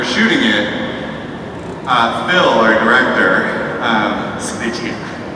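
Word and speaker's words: Sgriccia: And when we were shooting it, Phil, our director, Snitchy, as his last name I think is pronounced.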